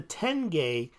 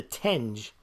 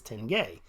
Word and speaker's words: tenge: aches and pains but I called it the Tenge because I was calling it the tinge te ngae and someone who I assume has neurology could just BBS at me he said the proper pronunciation is Tenge so I've been saying tenge since then but